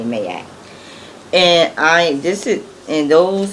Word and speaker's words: Ma'at: It's M-A, my apostrophe A-T. I say Mayat.